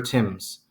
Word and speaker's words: Thames: in a meadow called Runnymede beside the River Thames yes it's pronounced tombs there they insisted that John put